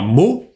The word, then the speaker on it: mot: Замечаем, что слово «мо» – это очень закрытый «о». «Мо».